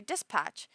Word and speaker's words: dispatch: He says, you pronounce the P really strong. I've never noticed that I pronounce the P in dispatch. You say it's so weird. Put less emphasis on the P.